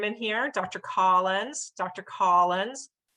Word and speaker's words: Collins: Collins - ah, ah. So, Dr. Collins is an "olive sock" word, same with hospital.